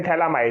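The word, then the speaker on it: Phthalimide: आपने पे थैलामाइड या थैलामाइड रिएक्शन जिसको हम बोलते हैं, पी साइलेंट रहता है वहां पे, थैलामाइड रिएक्शन या थैलामाइड सिंथेसिस इसको हम बोलते भी है।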